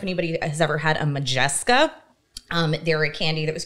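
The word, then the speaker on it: Modjeska: Was it spelled like M-A? M-O-D-J-E-S-K-A. Oh, I was thinking. Majeska. Yeah, okay.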